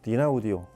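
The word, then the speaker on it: Dynaudio: 오디오라고 이름을 붙였다고 합니다이 덴마크 분들이 발음하는 거 보면 그냥 디오디오 혹은 쭉 a 아지 쭉 그냥 음으로 읽어서 디나 오디오 이렇게 발음을 하기도 하는이 다인오디오는 그렇게 해서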